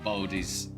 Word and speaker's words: Bodhi: It's pronounced bow as in bow and arrow, so Bodhi's Bodhi.